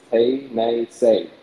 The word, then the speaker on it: Tennessee: That's how they pronounced that region that was Tennessee. It was Tay, Nay, Say. And that's the pronounce. That's the proper way to pronounce it in the Cherokee language.